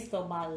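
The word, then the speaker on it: Cristóbal: Cristobal.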